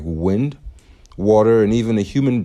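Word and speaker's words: Nguyễn: Everybody thinks it's pronounced inuan, but it's actually pronounced win.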